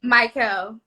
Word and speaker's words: Mikel: Because I was like, is it Michael or is it Mikel? Mikel. Yeah. Oh, damn, I got it right. Okay. Yes. I pride myself in pronouncing people's names correctly.